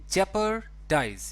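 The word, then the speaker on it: jeopardize: जेपर्डाइज, इसको आप ऐसे प्रोनाउंस करेंगे।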